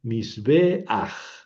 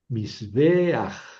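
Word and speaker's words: מִזְבֵּחַ: que es esa pata que se pone un poco deslizada y que se pronuncia antes de la gutural final. Por ejemplo, mis bej, mis beaj altar.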